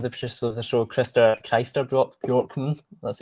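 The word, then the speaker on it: Christer Björkman: There's there's the producer of the show, one of the producers of the show, Chris Chester Borkman, that's how you say his name.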